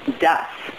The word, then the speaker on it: das: What is that is was ist das. Was is das? Did you say the das or das? Das, no T. No T, das.